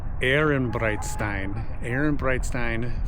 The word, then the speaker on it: Ehrenbreitstein: Over this shoulder over here on the Rhine side is the you know what, I'm gonna pronounce it correctly this time. I actually looked it up. It's the Ehrenbreitstein Fortress, and as you can see, it's monstrous.